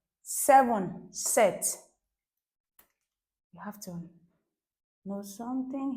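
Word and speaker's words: sept: So I circle this P consonant because this P is silent.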